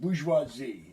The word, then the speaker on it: bourgeoisie: europe now the the this word here is pronounced bourgeoisie it's a french word basically means city dweller